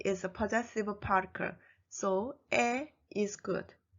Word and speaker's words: 의: Number 3, the possessive particle 의 is pronounced as 에. In fact, it should be pronounced as the original sound 의, but 에 is also allowed as a standard pronunciation.